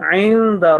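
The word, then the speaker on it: عند: This ayn should not be pronounced like alif or hamza. So it will be musawwamatan inda rabbika. Inda. Ayn, which is coming from the middle of throat, not from the third part of throat, which is the lower part.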